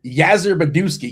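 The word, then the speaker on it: Yastrzemski: Uh it's pronounced Yazer Beduski.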